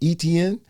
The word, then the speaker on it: Etienne: Etienne. Etienne is how you say it? Etienne. ESPN sound like ETN. ESPN. So when I write his name down in my notes, I just write ETN.